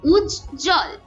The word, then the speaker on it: উজ্জ্বল: উচ্ছ্বাস এমন উচ্চারণ হয় এরপর উজ্জ্বল দন্ড এখানে কিন্তু ব এর কোন উচ্চারণ হচ্ছে না এবারে আসি আমরা ম